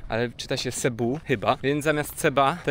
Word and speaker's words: Cebu: Pisze się to przez C, ale czyta się Cebu chyba, więc zamiast Ceba to jest Cebu.